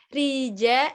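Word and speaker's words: rica: di screen lebih ini Riza ederim kita disini menggunakan C tanpa ekor Jadi kita bacanya j-tri Za ederim reggae derim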